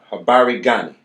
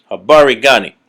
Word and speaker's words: Habari gani: And there's certain greetings you can say, like there's a greeting called Habari Gani. Habari Gani.